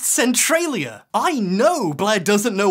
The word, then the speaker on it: Centralia: I started saying it like that it's actually pronounced Centralia I know Blair doesn't know what she's talking